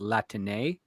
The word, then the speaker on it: Latine: Well, I mean, that's how we would pronounce it, but I believe they would pronounce it Latine.